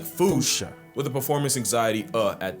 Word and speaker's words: fossa: Experts feel free to correct me, but apparently that is the closest to the OG Malagasy pronunciation. It's just that the global game of telephone has Americans saying Fossa, while England pronounces it as Fossa.